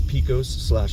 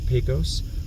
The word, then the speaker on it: Pecos: This is Pecos / Pecos. I've had folks comment that it's pronounced both ways, so I just tried to make everybody happy and I'll just say both of them.